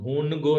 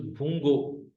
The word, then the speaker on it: भूंगो: This is नॉट a complete नून, तो इसको आप भूनगो नहीं पढ़िएगा. This is नॉट भूनगो, this is भूंगो.